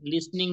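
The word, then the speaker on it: listening: लिसनिंग 27 27 लिसनिंग लिसनिंग मध्ये हा T silent आहे लिसन एल आई एस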